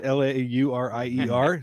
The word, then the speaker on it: Laurier: the trade and basically my way to speak french is don't pronounce the last syllable so you know this is called domain laurier so it's l-a-u-r-i-e-r so you just say